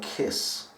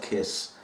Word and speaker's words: Kaees: it's a brand new company called kiss that's how they want us to pronounce it it's called kiss and it's a tank